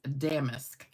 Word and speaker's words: damask: US the pronunciation is damaskque. So, it is a an emphasis on the first syllable.